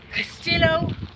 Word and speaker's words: Castillo: I feel like it should be pronounced Castillo. Castillo. Yeah, it is. Castillo. Double L's are wise. Like yee.